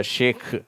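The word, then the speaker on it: Sheikh: இ ஐ cache சரியா நிறைய பேர் நம்ம ஹெச் போடாம விட்டுருவோம் ஆனா அந்த உச்சரிப்பு ஒரிஜினல் உச்சரிப்பு அந்த உருது அரபி உச்சரிப்புல இந்த ஷேக் அப்படின்னு தான் வருது சரியா ஹிந்தியிலயும் இருக்குது இது அடுத்தது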